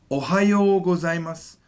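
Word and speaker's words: おはようございます: this is ohio gozaimasu ohio gozaimasu now notice i'm lengthening because i have the ou sound right oh so that is good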